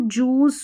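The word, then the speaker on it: juice: जैसे यहां पर देखिए यहां पर ये एक्सेप्शनंस में याद रख सकते हैं आप। फ्रूट फ्रूट, जूस, सूट और यह है क्रूज। यहां पर उ पढ़ रहे हैं।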